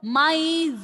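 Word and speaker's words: maïs: Example, maize, R sound and E sound is pronouncing separately.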